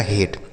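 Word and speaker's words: hate: तो अगर कहीं ए लिखा हो और उसी शब्द के लास्ट में इ लिखा हो तो इस ए का जो उच्चारण होगा वह ए की मात्रा हो जाएगा। जैसे एच से हो गया आपका ह। ठीक है? ए का उच्चारण ए की मात्रा और टी से हो गया ट और लास्ट में इ है तो इसका उच्चारण नहीं होगा। तो इसे पढ़ा जाएगा हेट।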